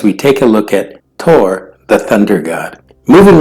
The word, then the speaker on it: Thor: his name is pronounced Tor ortur however in Old Norse his name did have a th sound the hammer wielding Tor